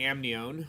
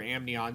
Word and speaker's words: amnion: And these membranes, especially the amnion or amnion, suspend the embryo in amniotic fluid.